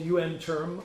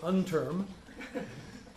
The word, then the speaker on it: UNTERM: It's called UN Term. I love it when some people say unterm. UN Term, that's the way it's pronounced.